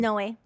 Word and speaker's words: Inoue: How do you pronounce your last name? Inoue.